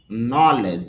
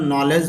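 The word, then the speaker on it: knowledge: নলেজ যদিও আমরা নলেজ বলে থাকি তো শুদ্ধ উচ্চারণ হবে নলিজ, নলিজ জ্ঞান।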